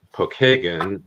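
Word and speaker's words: Pokagon: No, it's a Well, it's actually the name Pokeagan is how we pronounce it here in Indiana. Pokeagen is an Indian uh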